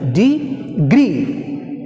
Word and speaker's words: degree: Stress falls on the second syllable. Degree.